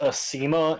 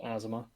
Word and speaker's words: Asema: It's pronounced Asema in our tongue, but they pronounce it Asima.